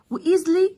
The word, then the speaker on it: easily: وايزلي سهولة، بسهولة ده حال بسهولة، يعني الاس هنا بتتنطق بالزد علشان بين حرفين متحركين، بين حرف الاي وحرف الاي.